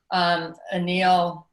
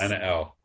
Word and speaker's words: Anna L: I've been calling her Anil, and she hasn't said anything. Anna L. Anna L. Anna L. Anna L. Like Anna the Hilton L. song.